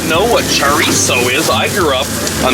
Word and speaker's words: chorizo: up but chatting c-h-o-r-i-z-o but the z is pronounced like an s is a mexican sausage